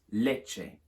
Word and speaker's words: leche: In Spanish, lacte becomes leche. The CT changes to a CH. Quite a hard CH sound like in macho or our word such.